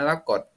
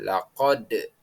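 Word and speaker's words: لقد: laqot kita membaca tulisan aslinya laqot namun membaca yang benar adalah dengan qqalah yakni memantul jadi bacaannya menjadi laqad selanjutnya yang kedua ada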